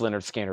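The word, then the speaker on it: Lynyrd Skynyrd: And I've got the Leonard Skinner, pronounced Leonard Skinner.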